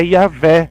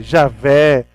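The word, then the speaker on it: Yahweh: o nome de Deus são quatro letras que na nossa de almas são impronunciáveis não tem como pronunciar é bem complexo até para o judeu é complexo falavam de Deus é o nome bem a tradução mais próxima gente vai ter é yaveh Oi e a ver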